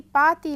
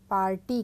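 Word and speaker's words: パーティー: यहां पर आप देख रहे हैं कि पात ती लिखा है तो जैसे जापानी में उच्चारण किया जाता है उसी प्रकार इसको यहां लिखा गया है। हिंदी में हम लोग पार्टी कहते हैं।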